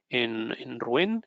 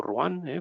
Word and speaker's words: Rouen: Entonces decía que estábamos en Rouen, o Rouen, pronunciado en francés, ya me perdonaréis por